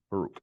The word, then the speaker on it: Baruch: When Jerusalem fell, I recently read the book of Baruch. Baruch. That's how you say it.